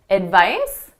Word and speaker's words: advice: So notice that C is being pronounced as an S.